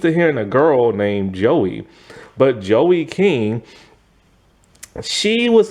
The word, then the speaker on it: Joey: That's why I had to stop cuz I keep saying it with a Z and not a J. Joey.